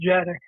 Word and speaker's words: Dziadik: It pronounced as Jadick.